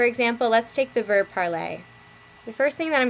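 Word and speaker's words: parlé: in leaving me with parlay that's the par P okay it's pronounced exactly the same way as the infinitive is moving on to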